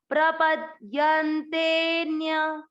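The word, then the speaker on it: प्रपद्यन्तेऽन्य: अवग्रह के कारण आपको ती की मात्रा को लंबा खींचना है, मतलब इसको उच्चारण में अधिक समय देना है। प्रपद्यन्तेन्य, प्रपद्यन्तेन्य, इसको खींचते हुए ही न्य बोलना है। यन्ते न्य कोई नहीं बोलेगा, ते को खींचना है।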